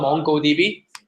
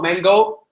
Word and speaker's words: Mongo: We call it this database is called MongoDB. So this is how it's spelled. It's not Mango. It's not other spelling. So it's Mongo, M-O-N-G-O.